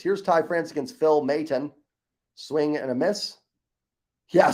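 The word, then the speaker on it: Maton: can he he's one of them Phil Mayton Mayton that's how you say it right here's Ty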